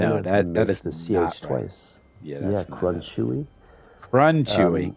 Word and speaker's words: Crunchewy: So, yes, it's pronounced crunchy and it's chuck wagon dog food ad where they had crunchy nuggets and chewy whatever.